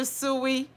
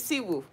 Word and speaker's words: Siwu: I used to call you Suwi. Suwi is good, but it's Siwu.